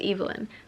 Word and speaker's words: Evelyn: of Evelyn Hard Castle apparently it's Evelyn that's how like the narrator pronounces it so I've been saying it wrong this entire time there has been